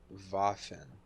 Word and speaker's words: Waffen: of my seed box it means weapon in german pronounced as vaffin and what is and